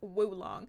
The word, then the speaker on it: oolong: Oolong is woolong. Oh, oolong is pronounced woolong.